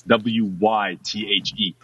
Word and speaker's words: Wythe: is George Wythe, and that's W-Y-T-H-E, but it's pronounced Wythe, George Wythe.